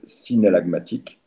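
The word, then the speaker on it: synallagmatique: Alors ça s'écrit S-Y-N-A-2-L-A-G-A-M-A-T-I-Q-E. Regardez dans votre cours, je répète, synalagmatique.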